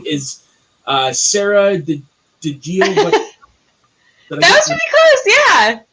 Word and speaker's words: DiGiovacchino: Her name is Sara DiGiovacchino.